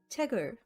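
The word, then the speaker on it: 책을: the basic pronunciation rules when kiyok is in the bachem or final consonant it becomes a hard k sound however because the syllable is followed by an in in the beginning of the next syllable the placement of yin at the beginning of the syllable makes it silent which then the final consonant of the prior syllable carries over and replaces that silent character i hope that makes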